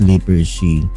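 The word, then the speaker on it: Lippershey: So pag nagtuturo kasi ako ang pronunciation ko po diyan ay liper she Hans lipers she.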